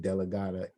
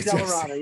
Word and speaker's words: Dellaratta: revelation about who Rick DeLlaRatta is. And I just mispronounced his last name. Rick DeLlarata, yeah, DeLlarata.